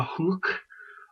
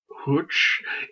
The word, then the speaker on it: Huch: Ricarda Huch, or Huch, Huch, and I think that gets a German pronunciation.